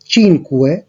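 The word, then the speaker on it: cinque: 1 হচ্ছে উনো, 2 এর জন্য উচ্চারণটা হবে দুয়ে, 3 এর ত্রে, 4 এর কোয়াত্রো, 5 এর ক্ষেত্রে চিনকুয়ে, 6 এর ক্ষেত্রে সেই, 7 এর ক্ষেত্রে সেত্তে, 8 এর ক্ষেত্রে অত্তো, 9 এর ক্ষেত্রে নোভে এবং 10 এর ক্ষেত্রে দিয়েছি।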